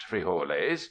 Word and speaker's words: frijoles: In the camp supplies will be spuds for potatoes, and quite likely frijoles (pronounced frijoles) for beans.